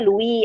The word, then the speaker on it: Louis: Misalnya Louis Vuitton gitu kan, tulisnya Louis Vuitton, Louis ya, nah padahal Ya. dibaca Louis, S-nya nggak dibaca, terus Vuitton gitu.